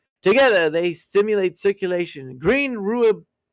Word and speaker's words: rooibos: So it's rooibos is how it's said.